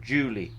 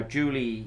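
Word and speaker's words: Djuli: data to something called Julie. Now Julie, you can Google Zimmer Peacock and Julie. It's got a slightly unusual spelling. It's D-J-U-L-I. It almost looks like it's spelled as the Julie, but Julie is a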